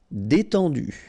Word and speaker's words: détendu: Détendu, E accent aigu, et, and then EN, en, détendu.